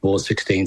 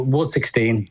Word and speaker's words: Ward XVI: That is Ward XVI. It's not X1V, X1I or whatever, which you wouldn't have a clue how many times our name's been mispronounced by somebody.